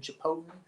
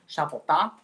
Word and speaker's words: Chapotin: North American jaw harpist, Neptune Chipotin or actually is the correct pronunciation of his name is Shapota. But check him out on YouTube. He's got some cool videos. Neptune Chapotin.